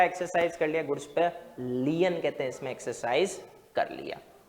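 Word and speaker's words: lien: इन transit and resale लियन को लीन भी बोल सकते हो मुझे प्रोनंसिएशन वाला कहते हैं इसमें जो स्पेलिंग भी प्रोनंसिएशन पसंद है और यह रिकॉग्नाइज है लायन मत करना वो भी मिलेगा फिर एल आई ओन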